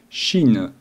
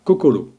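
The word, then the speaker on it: 心: La prononciation des caractères empruntés désignant le cœur devient shin. Cependant, en japonais pur, on dira kokoro.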